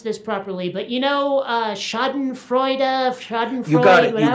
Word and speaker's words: Schadenfreude: I'm never sure if I can pronounce this properly, but Schadenfreude, You got it.